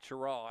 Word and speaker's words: Cheraw: properly, because I know it's probably supposed to be like Cheraw or something like that, but yeah, Cheraw, as I'm told from the Gaffney native.